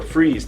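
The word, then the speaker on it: Frise: fry's type ailerons or freeze type fries and it's spelt like fries but it's freeze whatever anyway so the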